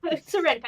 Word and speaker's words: Syrenka: project that just got successfully funded um yeah Shena or sha all right go ahead I'm saying it wrong go ahead Serena Serena you yeah you got it oh I did